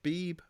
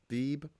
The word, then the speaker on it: Beeb: Yeah, it's Beeb. It's just one syllable. Beeb.